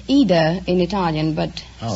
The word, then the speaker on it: Ida: Well, it's Ida in Italian, but... Oh, like Aida? Well, no, there is no A. It's just Ida. I-D-A.